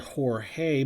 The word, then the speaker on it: Jorge: This is the George Bell rookie, and I know we would pronounce that Jorge, but he was always known as George Bell, and he would later start spelling his first name in the anglicized version.